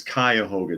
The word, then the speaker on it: Cuyahoga: And Monkey says it's Cuyahoga. Did I pronounce it wrong?